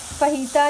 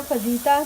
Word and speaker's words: fajita: फहीता या फजीता जैसा जो भी जहाँ भी रहते हैं आप उस हिसाब से आप प्रोनाउंस करें।